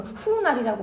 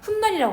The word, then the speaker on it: 훗날: 근데 우리 이거를 발음은 후날이라고 발음 안 하잖아. 훗날이라고 하잖아. 즉 니은이 첨가가 됐거든.